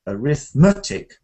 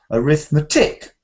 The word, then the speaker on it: arithmetic: okay or totally wrong so if I say arithm arithmetic Ari metic that sounds wrong arithmetic arithmetic but if I